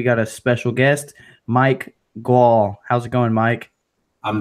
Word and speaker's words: Gual: a special guest Mike Gaul how's it going Mike I'm doing great brother did I say your last name right wall it's like wall what did she well with a G it's a new pronunciation